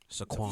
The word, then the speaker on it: Saquon: Well, you always get on me for saying Saquon. Saquon. Fuck you said it right this time.